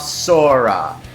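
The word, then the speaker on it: 空: the same year as Sora Shiina's debut. In episode 7 of Ninja, Hurricane Red made an appearance, and the Ninjas got a Hurricane Shuriken, marked with a kanji for sky, which is pronounced Sora.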